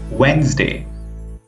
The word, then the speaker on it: Wednesday: The first letter is the letter D. Wednesday. Sandwich. Handsome. Badge. Edge. We can see that we did not pronounce D letter here.